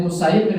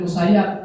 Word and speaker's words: Musayyib: musayib itu para hadirin bacanya Boleh musayib musayab ya beliau lebih suka dibaca musayib walaupun tulisan dalam kitab-kitab itu musayab tapi beliau lebih suka musayyib Said bin musayyib itu